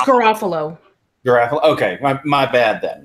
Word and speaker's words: Garofalo: I mean probably I think I got her name wrong is it Garofalo or giraffe Allah its Garofalo girl okay my bad then I what place